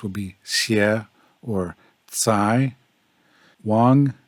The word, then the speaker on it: Wang: Wang is pronounced like Ong in wrong, and the X in Xiao is pronounced similar to something between S and Sh.